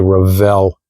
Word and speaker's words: Revell: I said Revell this time, not Revel. Okay, I know some of you get upset at me for saying Revel. I don't know why, but that's just the way I've always pronounced it, but I'm trying to